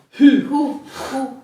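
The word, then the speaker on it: ふ: per tutte e cinque, però provate a dire HU. Fu! Devi Scatarramento! scatarrare. Scatarrare! A te sembra che stai dicendo hu o qualcos'altro? Fu. È come dire fu.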